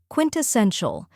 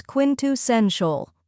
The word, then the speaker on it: quintessential: Then comes sen, which rhymes with ten and is stressed.